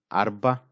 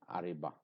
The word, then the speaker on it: arba: So if we say it like this, it is not arba, it is ariba. So it is not the right word. So here ra is a silent or a semi-silent sound.